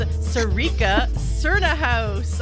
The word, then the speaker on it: Sarica Cernohous: It is Sarica Cernohous.